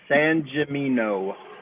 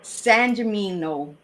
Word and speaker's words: Sangimino: Sangimino. Sangimino.